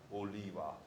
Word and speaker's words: Oliver: Oliva is the way the Hawaiians pronounce it.